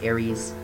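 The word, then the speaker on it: Eris: i yeah sorry e-r-i-s aris aries it can be pronounced either way it's another fairly typical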